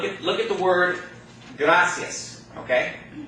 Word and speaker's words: gracias: the word gracias okay now the accents gonna fall on the second to last syllable because it ends in the nest okay but that second last syllable is not the I because the I and the egg go together to form of what thought okay and so the accents on the second last syllable the last syllable is the ia diphthong okay the second the